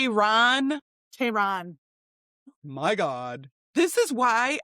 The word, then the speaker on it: Tehran: Tehran. Tehran. Yeah, not Taran. It's not the girl down the street's name.